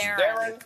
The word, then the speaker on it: Theron: Yeah, it's Theron. Like Baron.